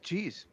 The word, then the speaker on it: Cheez: Football with Cheez. Cheez, like cheese, it's spelled like that.